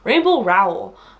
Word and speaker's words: Rainbow Rowell: Rainbow Rowell.